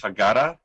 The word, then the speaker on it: Haggadah: Yes, and A Poet's Haggadah.